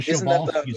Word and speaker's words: Przewalski: Przewalski's is spelled with a P, so don't look it up with a Z or a, yeah. It looks like Przewalski's. It's a Przewalski's is how you say that.